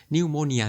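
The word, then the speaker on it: pneumonia: কি হয়েছে পি রয়েছে মানে হচ্ছে কিছু কিছু শব্দ রয়েছে যাদের সামনে আলফাবেট থাকতেছে বাট ওই লেটারটা কিন্তু উচ্চারণ করা হচ্ছে না সো এটাকে বলা হচ্ছে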